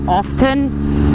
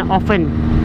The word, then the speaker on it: often: When I pronounce often, I tend to pronounce the T, I don't silent the T, so it's like often. When I was young, I was too used to pronouncing it and it became a habit and I keep saying often rather than often with a silent.